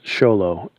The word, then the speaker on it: Xolo: how it's pronounced but the first name is show low xolo and i read online